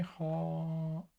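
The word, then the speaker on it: Hoare: billion dollar mistake Tony Hall let me hold okay robot says it's pronounced like horror Tony or the inventor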